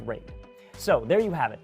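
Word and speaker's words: RAID: all those letters and yes I know it's pronounced rate so there you have it the predator Triton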